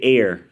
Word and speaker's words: heir: excuse me, which became heir, or as they say, heir, because the H is silent, which became hereditas or